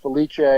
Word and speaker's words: Felice: come up that's and my last name is pronounced Felicia is spelled f as in Frank Yale I